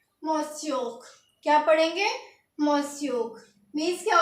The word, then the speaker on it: monsieur: तो इसकी प्रोनाउंसिएशन होगी MOHNSYOOR। इसको क्या पढ़ेंगे? मोस्योक।